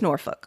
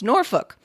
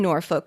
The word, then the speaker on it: Norfolk: of naval station norfolk pronounce it nor folk emphasis on the hard l having grown up there